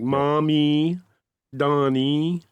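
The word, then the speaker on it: Mamdani: Was that mandami or mandami? Uh I've heard it pronounced mami. Mom, dummy. Yeah, it's like mommy Donnie. Mom, Donnie, mommy, daddy, and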